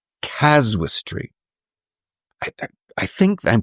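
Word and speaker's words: casuistry: of what was called caswistry. I I think I'm pronouncing it correctly. Okay, not causality but caswistry.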